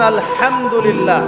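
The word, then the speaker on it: الحمد لله: এইতো আপনি পড়ছেন আলহামদুলিল্লাহ।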